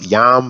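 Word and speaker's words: יָם: you have your mem all right that is pronounced yam that means c it's a masculine noun then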